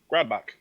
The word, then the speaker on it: Grodbach: Grodbach? Grodbach. Grodbach. Okay. It's a Bach, like Beethoven and Bach.